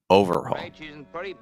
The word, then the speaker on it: overhaul: thing a complete overhaul when this is a noun again we'll stress the first syllable so you're getting distress on the o overhaul shape Mr fact dish